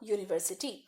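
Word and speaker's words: university: तो अ यूनिवर्सिटी, European, फिर से य की साउंड है।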